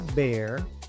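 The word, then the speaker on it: bare: Ejemplo, Esta palabra se pronuncia bear porque la a se pronuncia e, después se pronuncia la r, la e al final es muda.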